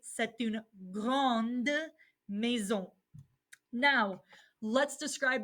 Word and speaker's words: grande: it's feminine setin gond now we pronounce the d satuna grande me zon now let's